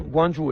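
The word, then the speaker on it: Guangzhou: mais en fait une province la ville c'est guanjou mais on y vient après donc guandonch guandon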